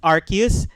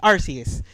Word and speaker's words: Arceus: what I'm saying about the pronunciation is that there is literally two pronunciations. I know. There is a movie that they said it's Arceus. There's also a series episode that they say Arceus.